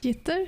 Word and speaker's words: Gitter: Gitter? Yeah, it's gitter. more than jitter. Gitter, so it's pronounced. You gotta put a G in there.